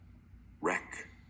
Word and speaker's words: wreck: The letter W in front of the R is silent, the letter K in front of the N is silent, and the letter G in front of the N is silent. So you're only gonna say the second sound for these two letters.